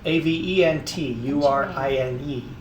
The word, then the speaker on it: aventurine: it all the time so it's not adventuring it's aventurine we have to be